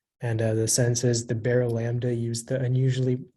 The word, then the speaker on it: Barylambda: Yeah, so the only pronunciation is baralambda.